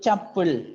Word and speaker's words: tuple: Sometimes called tuple, T-U-P-L-E, tuple.